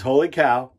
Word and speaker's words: Wholly Kaw: But it's holy cow. Now, I do say cow instead of caw, even though it's spelled caw. Because I heard the owner of the company say that.